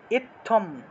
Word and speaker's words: ইত্থম: হয়েছে দেখাই অর্থাৎ অর্থাৎ ত এর ত এর সাথে হসন্ত হয়ে থ এইভাবে অর্থাৎ এখানে ত যোগ থ দুইটা ত এখানে আছে অর্থাৎ একটা হলো ত একটা হলো থ এই দুইটা বর্ণ একত্রিত হয়ে এই বর্ণটা হয়েছে এই বর্ণটা হয়েছে ত যোগ থ এই বর্ণটা হয়েছে সেজন্য আমরা উচ্চারণ করব ইত ইত্থম ইত্থম এভাবে তাহলে ইথম ইত্থম ইত্থম